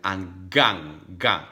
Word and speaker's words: hanggang: muli, hanggang, this again, you will never pronounce like Italian, hanggang, no, hanggang, hanggang sa muli.